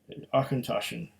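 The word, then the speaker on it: Auchentoshan: akintoshan they're even telling you how to pronounce it uh let it roll off your tongue akhentoshan but i i put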